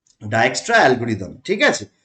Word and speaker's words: Dijkstra: এবং এইখানে আমার একটা অ্যালগোরিদম ইউজ হয়, সেই অ্যালগোরিদমটার নাম হচ্ছে কি ডায়ক্সট্রা অ্যালগোরিদম। ঠিক আছে, তো আমরা অনেকেই এটার উচ্চারণ ডিজেক্সট্রাও বলে থাকি, নো প্রবলেম, যাই উচ্চারণ আমরা করি।